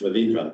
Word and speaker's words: Ravindran: And they're both pronounced Ravindran, by the way, same pronunciation, unfortunately.